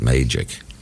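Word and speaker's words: Magick: He liked to pronounce it that way, to refer to the ancient mages. It was the science founded by the ancient mages, the way he saw it. So he pronounced it Magic.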